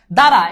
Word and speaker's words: দ্বারা: থাক ঠিক আছে ওকে দ্বারা এরে ভাই দারাতে তো প্রথমে বফালা তো প্রথমে বসছে এজন্য বফালার উচ্চারণ নাই বুঝছো আম্বার এটা সাধারণত নাম